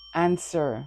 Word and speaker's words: answer: Remember in this word the w is silent. Answer means to reply or to respond.